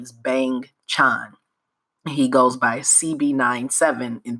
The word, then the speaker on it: Bang Chan: So the group consists of Bang Chan, which is hilarious because when you read it that way, bang and chan, it sounds like banchan, which is the side dishes in a Korean meal, but that's not his name.